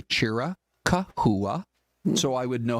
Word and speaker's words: Chiricahua: Because if you go with the spelling, it's Chiricahua. Hua. Or But like, you don't have to say it that what way.